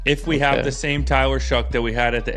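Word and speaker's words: Tyler Shough: But, uh, what's how do you pronounce the quarterback in New Orleans name? Tyler Shuck.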